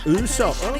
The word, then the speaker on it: Usopp: Next one is track number 4, Usopp. How does he make his ahs sound like that? Such a cool little sound. Okay, I'm curious, Scarecrow. He's got the lotion. Alright. It's actually pronounced Usopp.